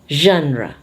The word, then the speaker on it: genre: G becomes ZH, and this one, the E becomes A. Genre.